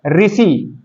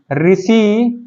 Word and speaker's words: ऋषि: है, तो वो है ऋषि। ऋषि को हम बोलने के आधार पर नहीं स्वर में काउंट करेंगे, क्योंकि जब इसको हम बोलते हैं तो इसमें रा और सा का उच्चारण होता है।